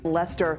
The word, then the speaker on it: Leicester: Lester.